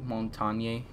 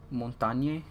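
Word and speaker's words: Montagne: and then are you seriously going in with montagnier Dungy I don't even know how to say his name on it yes more talk now it's called Darnay Montaigne yeah it's French thing for mounting and dude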